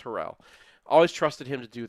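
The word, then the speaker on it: Harrell: And they trusted Harold to do Herel. I always pronounce his name wrong. It's Herell.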